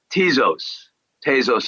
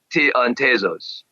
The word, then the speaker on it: Tezos: And then Tezos, I believe it's pronounced.